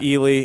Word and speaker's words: Ely: country and came to Ely Nevada now the book said it wrong he said either said he'll I didn't yeah it's Ely and it's Nevada not Nevada that's kind of like